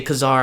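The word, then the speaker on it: Ka-Zar: don't care like kesar some say Kazar I I say kesar tomato tomato it doesn't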